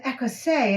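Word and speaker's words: écossaise: And you say, oh, it's an Écossais.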